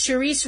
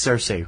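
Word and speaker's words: Saoirse: Best Actress, Charisse Ronan as Christine Lady Bird McPherson, Lady Bird. It's Cersei Ronan.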